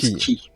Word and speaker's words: Cay: Alors très important, le quai, ça s'écrit quai, mais ça se prononce Key.